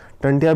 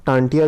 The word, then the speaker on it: टांटिया: टंटिया भील का वास्तविक नाम था टांटिया, जिसे अंग्रेजों ने टांटिया, उसका वास्तविक नाम टांटिया था, लेकिन अंग्रेजों के उच्चारण के कारण उसका नाम टंटिया पड़ गया था।